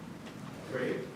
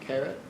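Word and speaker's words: caret: Carrot. Carrot. Carrot. Okay. Can you spell that?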